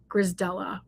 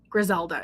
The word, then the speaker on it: Grisdela: I always want to call her Grisdela, which actually is correct. Griselda is what I was calling her before.